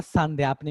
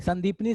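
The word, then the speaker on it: सांदीपनि: श्री कृष्ण के गुरु का नाम था सांध्यापनी मुनि, संदीपनी सांध्यापनी बोल सकते हो, ठीक है, प्रोनाउंसिएशन अपने हिसाब से सांध्यापनी नॉर्मली लोग बोलते हैं।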